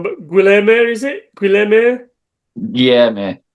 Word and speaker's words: Guilherme: Pardon me if I get this pronunciation wrong, but Guilherme, is it? Guilherme? Yeah, mate. Guilherme, yeah.